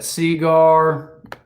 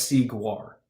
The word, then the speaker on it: Seaguar: Like the band Guar on the sea.